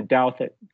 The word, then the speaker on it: Douthit: all the time um one quick way is just turn the U into a w or to to think